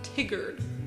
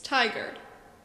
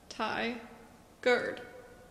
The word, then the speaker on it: Tigard: This name is subject to the frequent mispronunciation of Tigard, which I've always found kind of preposterous.